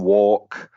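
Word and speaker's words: Wark: John Walk was this very odd-looking Ipswich town footballer from the 70s whose name just happens to rhyme with quark.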